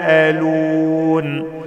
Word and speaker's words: يتساءلون: بعض رقق الباء كويس يتساءلون فيها مد واجب متصل اربع حركات عشان حرف المد اللي هو الالف بعدي همزه في نفس الكلمه واقبل بعضهم القاف ساكنه